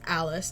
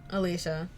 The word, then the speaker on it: Alice: Hoodie, Teddy, Wolfie, and most importantly, the charming I found out her name was actually pronounced Alice, not Alicia. It's Alice.